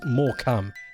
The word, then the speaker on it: Morecambe: It's pronounced more cam.